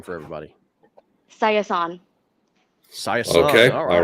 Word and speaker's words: Sayasone: your last say your last name for everybody cyathon okay all right i wouldn't i wouldn't have guessed that in ten tries completely butchered that me too yeah thank you so